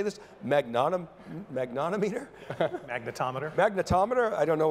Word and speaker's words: magnetometer: You connected that to data because you went out and bought a, how do you say this, magnetometer?